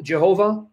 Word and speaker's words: Jehovah: However you want to pronounce the divine name, you want to pronounce it Yahweh, Yahovah, Jehovah.